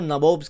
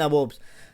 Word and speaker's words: nabob: देखो भाई, ये स्पेलिंग गलत नहीं है, ये ब्रिटिशर्स को बोलना नहीं आता था। ये नवाब्स को नबोब्स कहते थे, नबोब्स, ठीक है, समझ रहे हैं ना, नबोब्स।